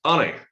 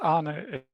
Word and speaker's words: Arne: Arnie, Mr. Yes, Arne is the pronunciation.